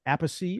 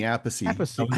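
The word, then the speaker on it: Appice: I always heard him say Carmine Ace, right? But when they over there talking about Vinnie, they always said Vinnie Apey. I was like, they don't pronounce their name the same way.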